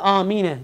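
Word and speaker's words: آمين: beyzavi rahimullah beyanı vecile iki sakin bir araya geldiğinde dolayı bu lafız da eyne gibi Feta üzere mebni kılınmıştır Yani bu Arapça bir kaidedir Dolayısıyla Amine diye okunur Şimdi bunu E şöyle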